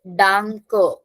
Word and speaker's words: Danke: So A is A and the end E is taking A. So Danke. Yeah, do not call it Danke because majority of the people say it like that. So it is Danke. A pronunciation in the end.